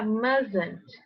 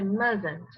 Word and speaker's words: mustn't: Um detalhe sobre pronúncia, o must é must, mas quando é na forma negativa, fica mustn't, mustn't, ok? A pronúncia é mustn't, tá? Tá sem o Tzinho, ó, até escrevi sem o T aqui.